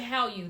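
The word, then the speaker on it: Hallyu: exactly what are they the how h-a-l-l-y-u does anybody else know yeah so I was pronouncing correctly how you that that craze that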